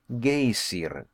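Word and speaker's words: Geysir: the waters the gazer a word the Icelanders pronounced gay Syrah and which signifies fury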